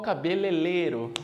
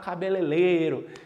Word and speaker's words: cabeleireiro: falava muito vou ao cabeleireiro né muito comum a gente falar cabeleleiro porque às vezes é enrola a língua para falar né então veja na